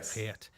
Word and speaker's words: Geert: Geert.